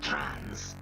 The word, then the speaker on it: Trans: gotten the exits and tunnels is gross trance pronounced trance is so tough it